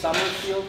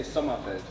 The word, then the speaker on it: Sommerfeld: No, it's Sommerfield in German, but we say Sommerfeld. Okay. It's the same words. It's summer, Sommer, and field, like felt.